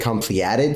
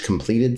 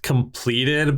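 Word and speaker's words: Compleated: Is it Completed Sage? Completed Sage? It's just pronounced completed, but I like saying completed because it bugs people who know that it's just completed.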